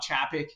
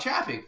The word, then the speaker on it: Chapek: And then when he left as the CEO, Bob, I always butcher his name, Bob Chapek, I believe is how you say it.